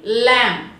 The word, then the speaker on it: lamb: For example ల్యామ్, LAMB, ల్యామ్.